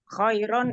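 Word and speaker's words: خيرا: Kalau Umi berhenti di kata khairan, bacanya apa? Khairon ini menjadi khairo karena ia menjadi mat iwat Ustazah.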